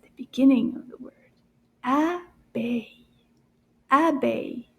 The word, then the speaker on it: abeille: Abeille. Abeille. How many syllables? Abeille. Deux syllabes dans le mot abeille.